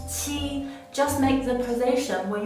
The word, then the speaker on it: qi: The only difference is that qi is an aspirated sound, so you need to exhale more and pronounce it stronger when you pronounce it.